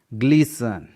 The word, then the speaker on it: glisten: ग्लीसन, GLISTEN, यहाँ पर STEN का पैटर्न है इसलिए टी साइलेंट है।